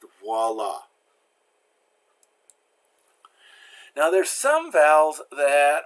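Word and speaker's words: voilà: doing it as ooh oh I always makes the wah sound there's a W sound there so mwah Miss Piggy's word for me voila here it is has a dub use on vwa voila now there's some valves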